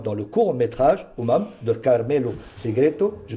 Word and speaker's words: Carmelo Segreto: Vous avez obtenu un prix d'interprétation, meilleur acteur, pour votre rôle dans le court-métrage Umam de Carmelo Segreto. Je prononce bien?